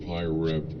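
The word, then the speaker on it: PIREP: UK I love turbulence the correct pronunciation of pyrep shortening of quote pilot report quote is quote pyrep quote yeah we're back to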